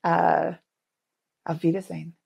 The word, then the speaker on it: auf Wiedersehen: I am saying auf Wiedersehen.